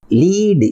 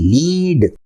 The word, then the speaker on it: lead: Next word is லீடு, LEAD, லீடு.